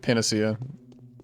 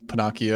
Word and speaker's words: panacea: Duty uh all right Panacea that's how you pronounce it I think I said panaki at one point Panacea uh vaccine I've